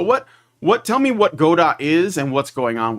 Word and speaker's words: Godot: of hand so what what tell me what Goda is and what's going on with this all right uh well it's technically it's pronounced gdau like waiting for G but uh what had